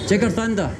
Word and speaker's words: Jigarthanda: How do you pronounce this? Jigarthanda. Jigarthanda.